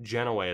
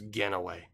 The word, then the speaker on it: Genoway: At least I know how to say his last name correctly, because it's not Genoway, it's Genoway.